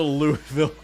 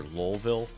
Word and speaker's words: Louisville: The Louisville Cudgel. That's my favorite brand, the Louisville Cudgel. Love those Louisville Sluggers. Or Lowville, I think is how it's pronounced there. And then releases.